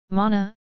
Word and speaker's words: man: Mana, Citta, Vinnana are the most note-worthy of them. Compare the Pali root man (pronunciation: rhymes with pun), to think, with the